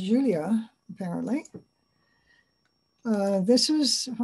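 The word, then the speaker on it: Iulia: grandpa how about julia it's with an i-u-l-i-a but it's pronounced julia apparently uh this is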